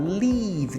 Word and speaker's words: leave: finish terminar leave e presta atenção na pronúncia é um I bem prolongado leave leave significa sair deixar